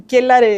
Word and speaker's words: Quellar: en la red social Quellar Volcanes, así se llama, y Quellar se escribe C-K-E-L-A-R, Quellar, que es una palabra aymara que dice relación con volcanismo, ¿ya?